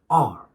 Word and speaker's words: are: Take, for example, the word are, A-R-E, written A-R-E. It's written as A-R-E, but it's pronounced as R, not R, R. You are skipping actually the sound R.